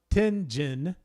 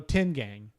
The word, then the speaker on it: Tengen: I think it's Tengen as in a gain. Oh, Tengang. Tengang? A gain. Tengang. I'm saying Tengen.